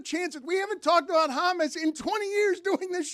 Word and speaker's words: James: I DON'T I DON'T THINK THAT anyone listening to this would read the word James and pronounce it Hamus.